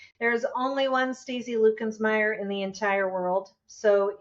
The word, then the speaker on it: Luckensmeyer: It's pronounced Lucansme, but it's spelled Lensmire.